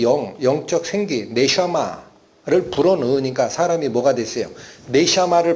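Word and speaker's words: נשמה: 이건 뭐예요? 네샤마 라고 읽힙니다. 히브리어로. 이게 숨, 영인데, 그래서 이 영으로 의미를 받으니까 사람이 뭐가 된 거죠?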